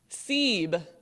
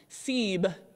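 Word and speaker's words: سیب: idea behind including seer in the half scene siebe so i haven't had you pronounce all of these let's try this one siebe siebe means apple and because apples are red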